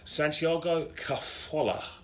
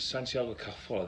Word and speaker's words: Santiago Cazorla: smallest player I've ever seen in the pitch, Santiago Cazorla. I repeat, Santiago Cazorla, that's how you pronounce his name.